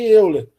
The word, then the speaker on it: Euler: Até nas notas de aula eu coloco que são os ângulos de Euler, porque, ou Euler, né? Depende da pronúncia de cada um.